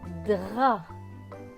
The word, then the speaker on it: drap: Le drap et le P à la fin ne se prononce pas, il est écrit en gris.